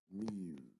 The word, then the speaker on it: mu: then extending the bar this is pronounced miu if you like cats then that might be easier to pronounce so the mean is